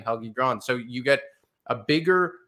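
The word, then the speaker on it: Helge Grans: It's Helgi Grans. Helgi Grans.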